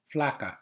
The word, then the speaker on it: flakka: effect similar to amphetamine flaca is pronounced using the soft a vowel sound as in the Spanish word flaca referring to a thin woman a stimulated metabolism would